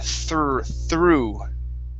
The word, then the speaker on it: through: Give me a good TH sound here. Through.